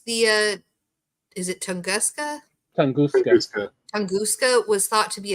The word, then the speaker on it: Tunguska: How do you pronounce the is it Tunguska? Tunguska.